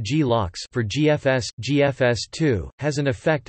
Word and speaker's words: glocks: the cache control mechanism, known as GLOCKS, pronounced GLOCKS for GFS2, has an effect across the whole cluster.